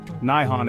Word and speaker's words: Nihon: Nihon is believed to be the older pronunciation, dating back to the Nara period, 710-794 AD, while Nippon gained popularity during the Edo period, 1603 to 1868 AD. Today, both pronunciations are considered correct and are used interchangeably, though Nihon is perhaps slightly more common in everyday speech.